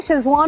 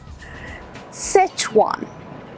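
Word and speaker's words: Szechuan: ये श कहाँ से आया, मतलब मैं ये समझना चाहती हूँ ये श आया कहाँ से? SZ है तो वो श कैसे बन गया? सेचवान, सेच, हाँ, SZE है ना, वो सेच बोलेंगे, शेज नहीं बोलेंगे।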